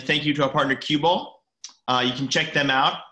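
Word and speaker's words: Qubole: pretty panochas and thank you to our partner cueball you can check them out at cube all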